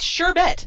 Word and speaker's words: sherbet: sherbet yeah no it sure bet there is one R and it's insure not Bert is this what Push